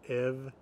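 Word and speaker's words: ef: Mostly F is going to be pronounced as a V. So words like av, from, or hav, see, or ev, if, that F is pronounced as a V.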